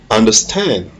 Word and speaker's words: understand: So, the stress is on the last syllable, stand. You say understand.